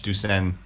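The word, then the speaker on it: douçaine: French, Ducen. Yeah, I thought it sounded French.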